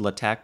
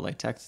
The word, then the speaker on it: LaTeX: student's guide to latex it's pronounced attack but i'll call latex it's a tough habit to break anyway in this video